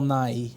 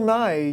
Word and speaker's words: Nighy: well Bill Nighy well why are you saying his name like that that's his name good naive Bill Nighy well that's just great honey how do you pronounce Bill Nighy then Bill Nye you've not Bill Nye the Science Guy Bill Nighy the British guy oh we run two